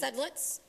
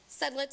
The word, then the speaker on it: Sedlitz: Sedlitz. Could you spell it? Sedlitz, it's S as in Sam, E-D as in David, L-I-T-Z as in zebra.